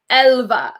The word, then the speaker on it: Älva: Okay, it's pronounced Älva.